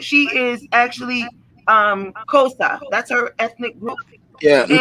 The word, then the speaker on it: Xhosa: She is actually Xhosa. That's her ethnic group. Yeah. And technically it's pronounced Xhosa. but okay. Yeah. Yes. Xhosa.